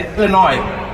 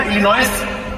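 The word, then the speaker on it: Illinois: American जो होते हैं ना, ये आर वर्ड हो गया, एस जैसे इलिनॉय, राइट फ्रॉम मैं कहा इलिनॉयस, कहता नो इलिनॉयस, एस is silent, तो मैं पहले काट दो उसको, क्यों रखा हुआ फालतू।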